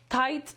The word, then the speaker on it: tight: śpi Sleep z tajemnic tight Czyli jak tutaj jest ciasno Nie tight Riptide Zauważcie że pisze się i grzechy A czyta się Aid tutaj Night a tutaj